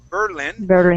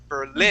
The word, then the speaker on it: Berlin: You're putting the accent at the beginning, saying Berlin. The accent needs to be at the end, saying Berlin.